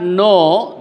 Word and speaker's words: know: The king and his courtiers did not know this. The king and his courtiers did not both words are pronounced in the same way.